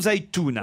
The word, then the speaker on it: Zaïtouna: Est-ce que je prononce bien? On dit Zaïtouna ou Zaïtouna?